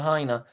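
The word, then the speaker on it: Lahaina: Principalmente la jaina se se pronuncia.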